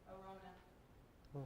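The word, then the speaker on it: Araunah: Arona.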